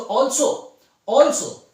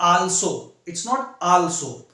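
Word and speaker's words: also: सो ऑल्सो इट्स नॉट आल्सो आलस आल्सो ऐसे नहीं था, इट्स ऑल्सो, ठीक है ना. ऑल्सो जैसे ये वाला होता है ना आ, मैं एक वीडियो में आपको उच्चारण वाला भी बताऊंगा. जैसे ये है आ, फिर ये ऐसे लगा देते हैं, ठीक है ना. ऑल्सो ये वाला सा, ठीक है ना, इसको ऐसे उच्चारण करते हैं. ऑल्सो, ठीक है. ऑल्सो इस तरीके से पढ़ते हैं, राइट, ठीक है.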